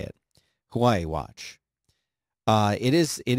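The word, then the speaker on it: Huawei: and explain to me how to say it Hawaii watch uh it is it is a beautiful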